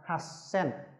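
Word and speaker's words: はっせん: Vậy nó nằm trong quy tắc S thì chữ to này sẽ biến thành chữ nhỏ, người ta đọc là hasen.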